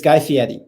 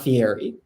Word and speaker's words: Guy Fieri: It's Guy Fieri. It's not Fieri.